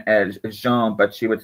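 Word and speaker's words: Jeanne: And her name was actually spelled J E A N E, but we pronounce like Jean.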